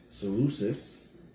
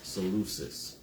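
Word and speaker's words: Seleucus: Then there's um Salucus, right?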